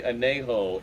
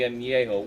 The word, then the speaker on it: añejo: The anejo is my particular favorite. Or the añejo. The añejo, whatever. Añejo. Fucking Andy. You're fucking Mexican, can't even pronounce añejo.